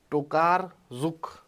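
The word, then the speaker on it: Tokarczuk: इसको पढ़ो जरा ओल्गा टोकार जुक ओल्गा टोकार जुक नाम है इनका सी साइलेंट है तुम्हारी भी जिंदगी में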